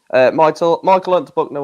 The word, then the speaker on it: Unterbuchner: That's how you pronounce it. Yeah. The German. Yeah. Michael Unterbuchner will not complete for personal reasons.